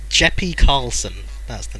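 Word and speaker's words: Jeppe: It's Jeppy Carlson, that's the name. Nice. It's probably not Jeppy, it's probably Jep.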